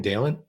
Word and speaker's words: Dalen: and terry is that i say his name dalen yeah yeah uh i like that he's a